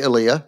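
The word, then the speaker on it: Elia: but what you don't know there I represented Ilah Kazan and it's pronounced Ilah no one ever pronounces it correctly I say elah oh good no I know most people say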